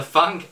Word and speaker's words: Func: yes I learned how to save properly or pronounce it properly the funk HS 260 gaming headset so let's jump right